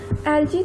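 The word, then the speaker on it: algae: एल्गी, अब हम एल्गी के बारे में पढ़ेंगे। एल्गी को दो तरह से हम प्रोनाउंस कर सकते हैं। ब्रिटिश इंग्लिश में हम इसे एल्गी पढ़ते हैं और अमेरिकन इंग्लिश में एल्गी।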